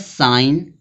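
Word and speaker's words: sign: यहां पे दिया है साइन। साइन स्पेलिंग क्या है?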